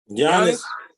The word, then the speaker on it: Giannis: Giannis.